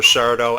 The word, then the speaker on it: Sardo: Mr. Sardo accent on the dough, I believe is the way that it went.